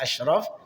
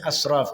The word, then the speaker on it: asyraf: Kemudian tertukarnya huruf shin dengan shad pada kata asyraf sehingga kedengarannya asraf.